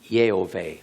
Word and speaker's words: Yehovah: What it really says there is, "I wait for your salvation, Yehovah," or Yahweh, depending on how you want to pronounce it.